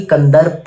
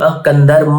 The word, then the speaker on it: कंदर्म: में कहा था कि कंदर्प नहीं है। वो मुझे भी पता है, आई थिंक वो प्रोनाउंस करने में थोड़ा सा इधर उधर हो गया होगा, उसके लिए सॉरी। कंदर्म है, कंदर्प नहीं है, कंदर्प मुनि।